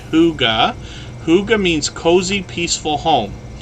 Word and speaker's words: hygge: how we pronounce this h-y-g-g-e is pronounced hyuga hyuga means cozy peaceful